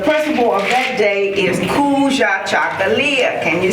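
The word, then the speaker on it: Kujichagulia: And it is recognized, the principle of that day is Kuja Chakalia. Can you say it? Kuja Chakalia.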